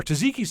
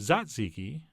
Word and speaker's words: tzatziki: of cold gert sauce our taziki's sauce would be perfect here although apparently I'm supposed to pronounce it tzatziki but that feels awkward but what doesn't feel